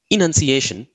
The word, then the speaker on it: enunciation: One way to keep the words apart is to pronounce the A in annunciation as a schwa sound or a sound, and the E in the enunciation as a long E sound, as in he.